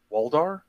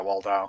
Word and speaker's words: Waldau: Waldar? Yeah, Waldau? Yeah, Waldau.